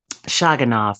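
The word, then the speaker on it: Shavkat Rakhimov: three guy sha shyav shagan shag am I pronouncing it right shanov shanov okay so when he fought him and beat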